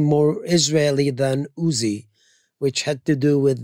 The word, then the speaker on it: Uzi: When you say my strength, you should say Uzi.